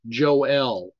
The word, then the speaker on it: Joel: been asked many times why do I pronounce names like this Joelle with the emphasis on the latter portion of the name whenever um go ahead